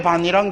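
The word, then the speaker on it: 밭이랑: 표준 발음은 반이랑이에요. 왜 이렇게 반이랑 되는가 하는 것은 좀 더 공부해야 돼요.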